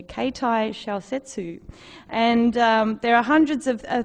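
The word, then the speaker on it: 携帯小説: They're known, I'm going to give myself a Japanese pronunciation here, Keitai Shousetsu.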